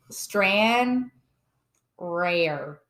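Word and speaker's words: Stranraer: it's not it there's no G it's keep strand rare spell it I'm G it's it's s t r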